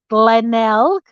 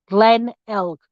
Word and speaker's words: Glenelg: over here in Australia we pronounced it Glenelg knock knock Glenn elk so I felt the same way forward as it is backwards um that case is